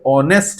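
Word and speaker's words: honest: जी हां, इंग्लिश में बहुत सारे वर्ड्स ऐसे आते हैं जिसमें उसका स्टार्टिंग लेटर या बीच में कहीं पे उसको साइलेंट कर दिया जाता है। मतलब उसको प्रोनंसिएशन उसका उच्चारण नहीं करना है हमें।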